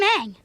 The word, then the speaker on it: Aang: How do y'all pronounce that wrong? He literally says it in the show for y'all. I'm Aang. My name is Aang.